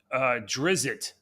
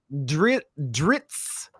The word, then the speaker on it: Drizzt: This one is about a Drizzt. What's a Drizzt? Dritz. I used to call him Dritz. So a lot of people pronounce his name differently. It's a Drizzt Duerden or Dritz Duerden.